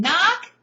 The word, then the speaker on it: knock: But the K in knock, that's where I just feel like I would love to know why. Maybe I should look it up. Maybe I should try to figure this out. Why? Why are we using K? This hard consonant sound, and in the beginning it's silent, K, but no, not in the end.